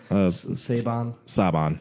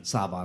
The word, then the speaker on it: Saban: right I'm sorry yeah just think like it's Saban it's literally I'm just saying seven with an accent oh yeah that's the stuff I've the reason I picked Saban it was an inside